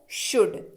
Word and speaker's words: should: अगला शब्द है शुड, SHOULD पढ़ते हैं इसको, शुड। एल रहता है यहां पे भी साइलेंट।